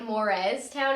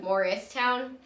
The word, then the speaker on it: Morristown: new jersey yeah but i say it like mores town instead of morristown so like it's confusing